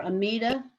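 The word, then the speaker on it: Amidah: is so it it generally the hebrew pronunciation the pronunciation is on the last syllable we also and you know the prayer amida is the correct hebrew way to say it i you know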